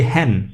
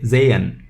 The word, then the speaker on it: sehen: means again and zayn where h is silent if you notice here we will see in in our country in our um pronunciation class what is what are the rules but here remember h is silent we don't want to say hen we say zayn so zayn is to